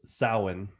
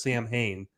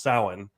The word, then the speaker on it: Samhain: man trinial samhain harvest or hallows so it's pronounced samhain i was telling stephanie about oh okay yeah uh if you watch the halloween movies you would know that they pronounced it wrong he says samhain and halloween too and everybody loses their minds